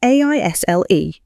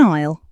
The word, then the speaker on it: aisle: It's spelled A I S L E. The S is silent. It sounds like isle, Tom. Isle. That is a strange word. So, what is an aisle, Maria?